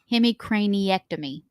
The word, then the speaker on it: hemicraniectomy: And underwent a decompressive, I'm going to try and say it right, hemicraniectomy. It's pretty impressive. I don't know if it was right, but I believed it. It is right. Oh! Hemicraniectomy.